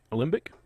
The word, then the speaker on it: alembic: Alembic, I believe, is the proper pronunciation for that.